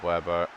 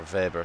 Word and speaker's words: Weber: Nice job, Weber. Or Weber, sorry. It's German. W's are pronounced as V's.